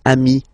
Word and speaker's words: amis: Okay, but then technically you pronounce it the same way. So singular form ami, plural form you add this S, but it's ami as well.